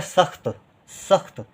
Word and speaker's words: सख्त: फिर है सख्त। स और आधा खा, क्योंकि खा बहुत कम देर के लिए उच्चारित हो रहा है, सख्त, त लिख देंगे, सख्त।